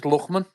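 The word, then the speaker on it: Lookman: His name's Luchman. Luchman, you fucking daft cunts. it's spelled L-O-O-K anyway.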